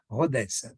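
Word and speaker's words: Rodez: Algumas pessoas vão dizer: "Ah, mas se diz Rodécia porque termina com Z." É, é assim que eles dizem, Rodécia. Eles pronunciam o Z.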